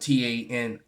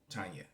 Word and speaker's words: Tania: Tanya the herbalist, and it's spelled Tania, Tanya. You know, not Tany. It's an I where the Y is. Okay. All right. Where the Y would normally be in the spelling of Tanya.